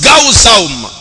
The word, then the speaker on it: gazam: Maintenant, gazam. En grec, ça se prononce gaouzaum.